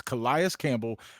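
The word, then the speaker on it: Calais Campbell: Kias Campbell, pronounce the man's name right. It's Kias Campbell.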